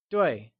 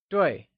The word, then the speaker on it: 对: 对 is pronounced using a falling tone, like 对. Let's try and say it again. 对.